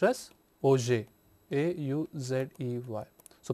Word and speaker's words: Auger: Here we say that Auger, it is not pronounced as Auger, but it is pronounced as Auger, A-U-Z-E-Y.